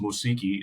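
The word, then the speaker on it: μουσική: And then like, so I'm Greek, so I looked it up and it's musiki is how you say music.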